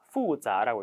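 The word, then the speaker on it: 复杂: 확실히 맞습니다 두 번째 후자 후자라고 읽습니다 복잡하다예요 하다가 들어가지만 행동이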